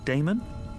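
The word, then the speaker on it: Daemon: e m o n how do you pronounce that Damon if you prefer and this address I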